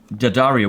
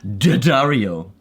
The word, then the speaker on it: D'Addario: wrong side and I would be going Daario which is of course not D it is D it says Daario Dario you have to say it like this Dario how does she do